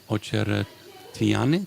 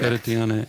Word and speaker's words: Ocheretyanyy: I'm here with Ocheretyanyy. Did I pronounce that right? Yeah, this was correct. Ocheretyanyy and Absolutely.